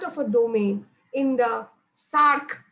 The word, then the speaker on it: Src: So named because the sequence of an SH2 domain is similar to that of a domain in the SARC. That is how you pronounce SRC, SARC.